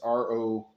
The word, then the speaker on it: Rovinj: But Rovinj was Rovinj. That's Rovinj. I think it's spelled.